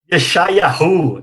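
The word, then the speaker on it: ישעיהו: Yeshayahu, Isaías, tá certo?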